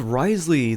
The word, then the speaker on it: Wriothesley: need a Healer next on the list is Risley the cryo Punchy Jailer with a name that